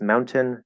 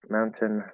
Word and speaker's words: mountain: really quick mountain um we will very commonly do not a silent dropped or omitted tee it's not mountain mountain that's not right right that would be an emitted t where it's it's silent we would do what's called a stopped t maybe it's a